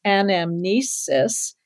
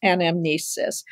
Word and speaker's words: anamnesis: This has an extra syllable, and amnesis.